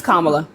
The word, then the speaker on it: Kamala: you're voting for Kamala it's Kamala okay okay thank you so please pronounce it Kamala please comma is a word in the English language and put in law